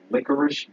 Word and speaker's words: licorice: focus that close but i always wonder why is licorice pronounced with an sh when it ends with a ce licorice no one says